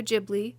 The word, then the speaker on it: Ghibli: Also, if you don't know if it's Studio Gibli or Studio Ghibli, both are correct. Don't let anyone bully you into thinking otherwise. Haaki pronounced it Gibli, but he based it on